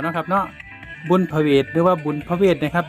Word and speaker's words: ผะเหวด: พระ พุทธเจ้า นะ ครับ ใน ภาษา อีสาน จะ ออก เสียง พระ เวท เป็น บุญผะเหวด นะ ครับ เป็น ชื่อ เรียก